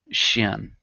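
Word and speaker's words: hsien: they called uh Shian uh spelled H S I E N in the old uh spelling. I don't know if my apologies which is pronounced sim uh s similar similarly to shen I was kind of close shen these wise deceased shamans were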